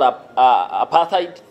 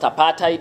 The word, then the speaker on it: apartheid: And the West supported the white supremacist government, which we sometimes call apartheid, but pronounced apartheid in the Afrikaans language.